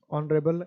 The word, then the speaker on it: honorable: ऑनरेबल as silent है, लिखवा रखा था ऑनरेबल, क्या होगा, एन।